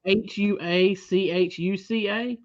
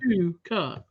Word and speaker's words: Huachuca: So, in Arizona at Fort Huachuca, and guys, I had to look that up because I would have butchered that because it's spelled Huachuca. I would have so said Huachuca, but it's Oh yeah. Huachuca.